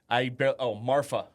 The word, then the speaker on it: Marfa: Marfa. Marfa. Yeah, Marfa. Not Martha. It's like Martha, but if you're saying you have a lisp.